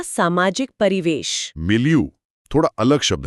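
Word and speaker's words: milieu: ये उच्चारण को मिलेगी यू से जोड़कर माहौल के कॉन्टेक्स्ट में याद रखने की कोशिश है।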